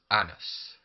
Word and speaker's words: Janus: would be pronounced as anus. The J would be silent.